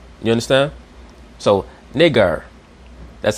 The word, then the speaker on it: Niger: be pronounced nigger because the I will be pronounced like an E sound and the E will be pronounced like an A sound. You understand? So nigger, that's how they pronounce